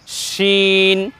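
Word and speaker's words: شين: নুক্তা বসিয়ে দিই তাহলে এটা হয়ে যাবে শিন উচ্চারণটা একটু বাতাস মোটা হবে বেশি বাতাসের সাথে উচ্চারণ করতে হবে আগের বর্ণ ছিল একটু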